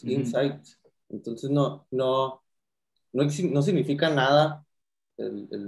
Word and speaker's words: Insite: En nuestro caso, la palabra realmente no es como adentro, se escribe con T, es Insight.